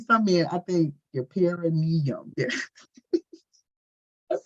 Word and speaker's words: perineum: But I think some men, I think your perineum.